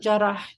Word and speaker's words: Jarrah: Jarrah, yeah.